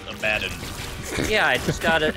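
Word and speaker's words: Abaddon: yeah yeah like a b oh is that abidon dude oh God you know it's actually pronounced abadin yeah I just got an abidon evil damage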